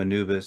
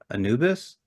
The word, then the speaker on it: Anubis: And she's trying to pronounce his name, Anubi. And I was like, Anubis? And she's like, yes, he's here.